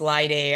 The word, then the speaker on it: Laide: Once again, my name is Laide. I would say rhymes with Friday.